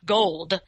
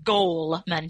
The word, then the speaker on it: Goleman: OU le ma n so it's not gold its goal man gol emea and daniel